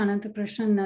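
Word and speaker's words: Ananthakrishnan: and then i can go sure i'm rajna anantha krishnan and that was a very good pronunciation of my last name uh i'm with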